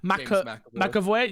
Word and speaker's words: McAvoy: McAvoy, yeah, and Daisy Ridley, but who are new additions to the game.